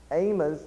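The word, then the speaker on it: Amoz: Notice there's a slight distinction in the pronunciation. Amos ends with a Z, and he's not the same as Amos, who is the prophet Amos.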